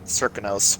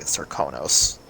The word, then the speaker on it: Serkonos: The Dunwall accent says Serkonos, while in actual Karnaka they say Serkonos.